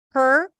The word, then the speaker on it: her: let's practice it together so her stir okay no vowel between the H and the r her her her and